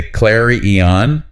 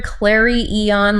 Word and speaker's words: clarion: You can say ʻkler-ē-ən with an air sound, or ʻkler-ē-ən with an ah sound, or even ʻklar-ē-ən with an r sound. I think I usually hear ʻklar-ē-ən like in a clarion call.